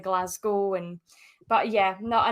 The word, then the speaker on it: Glasgow: Mostly just every now and again, I'd have little wind up videos of, like, Americans pronouncing Edinburgh that way instead of Edinburgh, or Glasgow instead of Glasgow.